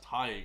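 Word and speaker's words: Tadhg: t a d g Tada T T man ton so funny that's Ty right all right Ty Ty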